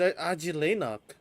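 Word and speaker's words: Ajilenakh: Oh shit, so that's how you pronounce it. It's Ajilenok.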